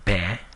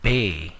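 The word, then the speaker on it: ဘယ်: It's not like bay in Bay Area or lay in lazy. If you can think of how you pronounce glare or stare, like looking intensely at someone, and switch it with the sound b and l, then you'll get the way the Burmese would pronounce the word be and le.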